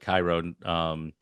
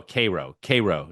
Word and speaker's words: Cairo: I think that's how you actually say it. Cairo. No, Cairo is how you say it. You know how you get to Yeah, like rural Georgia or yeah. rural Alabama, rural places, and it's said a different It's way than Cairo.